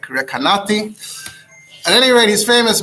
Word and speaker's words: Recanati: so most pronounce it ricanti although those who are into pronouncing italian cities correctly it's apparently something more like recanati at any rate he's